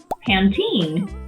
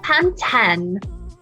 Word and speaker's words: Pantene: Pantene. Pantene. There's an E on the end, you know.